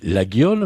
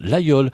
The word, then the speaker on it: Laguiole: Et ça s'écrit la guule mais on prononce l'ayool.